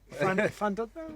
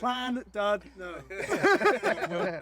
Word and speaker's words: Llandudno: Llandudno, is it? How do you say it? Llandudno.